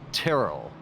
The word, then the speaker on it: Terrell: worst of that and I believe it's Terell I keep saying it wrong I apologize it's like terrible so Terr Terell in that sense but Jake